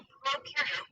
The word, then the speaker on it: prokaryote: And to help me remember some more differences in this next part, I like to remember that pro in prokaryote rhymes with no, and u in eukaryote rhymes with do.